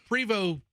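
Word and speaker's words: Prevost: So, it looks like it's Post, but it's pronounced PO.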